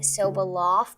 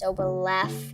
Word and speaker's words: Soboleff: Lots of people pronounce it Soboleff, but it's actually pronounced Soboleff with an E.